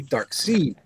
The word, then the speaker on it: Darkseid: was a cartoon so I pronounced it correctly dark see okay I did not